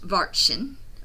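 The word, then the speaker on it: Watschen: Oh, pronounced varchen, varchen, in the corridor.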